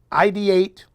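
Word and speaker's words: IDEATE: to muff it so here it is it's id8 but it's spelled ID EA te clothing id8 clothing i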